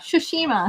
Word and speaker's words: Tsushima: I have to say it properly because our friend told us you don't say Tsushima. it. Tsushima. There's no T. Yeah, the T is silent. Like sushi.